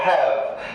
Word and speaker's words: have: যেমন দেখো, হ্যাভ, এইচ এ ভি, হ্যাভ করবো না, কেন? ইংলিশ ওয়ার্ড ভি দিয়ে শেষ হবে না, একটা ই লাগিয়ে দেবো, এই ইটা সাইলেন্ট থাকবে, উচ্চারিত হবে না।